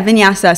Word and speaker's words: vinyasa: what that is sorry what is that it's pronounced yeah yeah vinyasa so vinyasa is one of the more fast